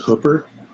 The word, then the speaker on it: Hooper: a town called Hooper. Yes. How do you say hoop? Hoop, but we say hooker with a P for hooper.